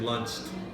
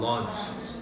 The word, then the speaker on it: launch: bird also pronunciation wise you said launch it sounded like you said lunch launch oo oo launch lots of yes one